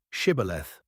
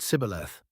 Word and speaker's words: shibboleth: to say the word shibboleth. The enemy tribe didn't have the sh sound in their dialect. They pronounced it sibboleth.